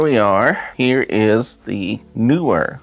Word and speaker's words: Neewer: are here is the newer I got confirmation that is how you pronounce it newer I always thought knee where we're starting way but